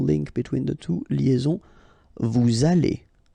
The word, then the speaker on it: vous allez: Then, vous allez. Remember, a Z at the end here will give you this A sound. Okay? Aller. And then, as previously, this little link between the two, liaison, vous allez.